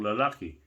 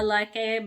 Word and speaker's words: lalaki: They will add asawa, meaning asawang babae, asawang lalaki.